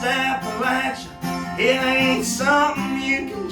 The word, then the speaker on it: Appalachia: It's pronounced Appa-Latch-Uh with a Perry County drawl.